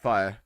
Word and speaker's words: fiyrthgu: Uh, fire. Most people just say fire. There is no correct pronunciation.